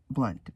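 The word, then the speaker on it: Blount: U N T, but it's pronounced like how he's changed it, Blunt, Blu N, and it's pronounced the same way.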